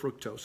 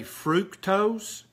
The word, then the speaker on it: fructose: fructose I'm sorry see in the south we say fructose but I know the rest of the world says fructose so I try to say it like they do but here in Tennessee here Tennessee it's fructose and don't eat don't